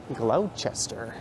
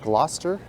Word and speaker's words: Gloucester: to nerd out on and this street is Glouchester at least that's how you might read it GL c s t e r that's actually pronounced Gloucester someone having a bit of an episode over